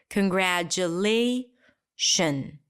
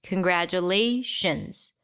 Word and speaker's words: congratulations: then we reduce it it's not she owns it's not congratulation so that's a sh Y as well the IO n at the end is always reduced to a schwa always now I want you